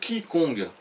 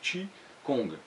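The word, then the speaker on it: qigong: conte la voyais cela ça s'écrit chi kong mais ça se prononcent pas comme ça d'avoir que ça se prononcer tchi kong alors ça c'est du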